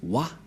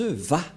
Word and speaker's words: Yahva: C'est pourquoi les gens disent Wa. Mais en fait, ce n'est pas Wa la vraie prononciation, mais Va pour les Juifs. Les Juifs le prononcent Va.